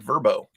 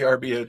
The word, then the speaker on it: VRBO: come check that out I actually pronounce that verbo do they probably they call it they call it verbo I always try to say VRBO too but they're called